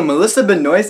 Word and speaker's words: Melissa Benoist: Also, Melissa Benoist is in this movie. Yes, that is how you pronounce her name.